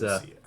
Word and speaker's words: Laodicea: At Laodicea, it's Laodicea. yeah.